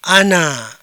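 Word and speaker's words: أنا: Ana baris kedua yang ini dibaca iya dibaca nahnu.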